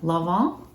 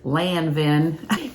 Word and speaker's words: Lanvin: The brand is Lanvin, Lanvin, and I watched a pronunciation thing, and it said that in French, an is en, like you don't say the n, so Lanvin. I would have said Lanvin, had I not read up on it.